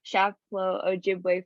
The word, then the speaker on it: Chapleau Ojibwe: And you are the chief of the Chapleau Ojibwe First Nation. Did I pronounce that right?